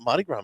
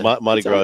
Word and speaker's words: Mardi Gras: We got Mardi Gras menu, huh? You don't pronounce the R? Did you say Mardi Gras?